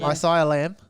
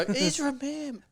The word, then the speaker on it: Ezra Mam: Isaiah Lamb. No, Ezra Mam.